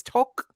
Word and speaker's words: Tok: how is it pronounced it's not like tick-tock it's talk talk so my full name